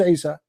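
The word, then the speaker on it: Isa: not even know how to say and to pronounce the name of Jesus who is Asia who's Issa his mother her name is Maryam her father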